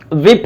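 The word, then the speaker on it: WIP: बल्कि इसको रैम बोलते हैं एज अ वड प्रोनाउंस किया जाता है थर्ड देखिए अब यहां पे विप है यानी डब्लू आई पी विप विप means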